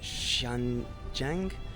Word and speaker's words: Xinjiang: It's very Cantonese versus the Sichuan province versus Tibet versus, I think it's pronounced Xinjiang, where the Uyghurs are.